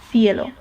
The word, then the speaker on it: cielo: However, if the C in a Spanish word is followed by E or I, like for example, in the word cielo, which means the sky, then it is more similar to this th sound in sing. Okay? Sing, cielo.